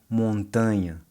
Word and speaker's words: montanha: Montaña in Spanish Montaña. versus montanha in Portuguese. Montanha.